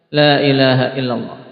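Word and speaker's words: لا إله إلا الله: karena kalimat Lailahaillallah ini kalimat yang bisa diucapkan tanpa gerakan murut makhraj-makhrajnya terkait lidah semua Lailahaillallah Antum pegang mulutnya Naam TB kalau betul pengucapannya ini gak akan gerak tapi kalau Allah pakai wawu ya salah Mesti pakai mulut menunjukkan apa keliru karena Allah Allah ini kan gak pakai bibir Lailahaillallah geraknya lidah makanya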